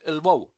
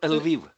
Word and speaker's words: Lviv: Liev, is it? Do I pronounce this correctly? We pronounce it Lvov or Lviv. Lviv.